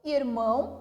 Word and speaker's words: irmão: Então, irmão, oxítona, separando em sílaba, irmão. O mão, a sílaba tônica.